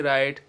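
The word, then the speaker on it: write: एस डब्लू ओ RD surd W आर आईटी राइट हम इसमें डब्लू नहीं पढ़ेंगे तो यह कुछ साइलेंट लेटर्स है जिनको हमें ध्यान में रखना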